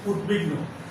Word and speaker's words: উদ্বিগ্ন: উৎ যোগ বিঘ্ন, উদ্বিগ্ন। এই উদ্বেল, উদ্বোধন, উদ্বেগ, উদ্বিগ্ন ইত্যাদি শব্দে যে বফল আছে এই বয়ের উচ্চারণ হবে না।